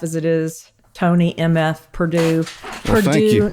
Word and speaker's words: Purdue: accent so I'm like it's Purdue like the chicken not the college and